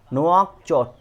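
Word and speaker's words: Nouakchott: तो यहाँ पर देखो इसका क्या होता है, इसका होता है नुआकचोट। क्या होता है, नुआकचोट, ओके। अब आप देखिए अफ्रीकन देशों का प्रोनाउंसिएशन कहीं कहीं बहुत इजी लगेगा, कहीं कहीं बहुत अलग सा होगा, ठीक है।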